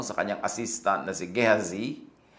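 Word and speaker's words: Gehazi: assistant na si gazi sa mga pangalan na Hebrew pangalan na jewish pagka gusto niyong magkaroon ng mas tamang pronunciation mas tama yung tagalog pronunciation or yung Filipino pronunciation kaya sa english style pronunciation So yung jz na yan sa English Pag sinabi mong ghazi mas malapit yan sa original Hebrew translation or pronunciation so sabi niya Tanungin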